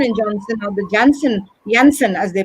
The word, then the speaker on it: Janssen: And there is one more vaccine which is introduced called as the Johnson & Johnson, or the Janssen as they pronounce it, vaccine, which is similar to AstraZeneca but is given in a single dose.